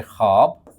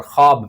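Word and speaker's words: خواب: अगला सवाल है कि ऐसी वाव जो लिखने में तो आए लेकिन पढ़ने में ना आए, साइलेंट कहलाती है, उसे वाव मादूल कहा जाता है। जैसे ख्वाब, जैसे ख्वाजा, लेकिन ख़वातीन में ये असूल नहीं अप्लाई होता, क्योंकि वहाँ पर वाव को पढ़ा जाता है, जबकि ख्वाजा और ख्वाब में नहीं पढ़ा जाता इस वाव को।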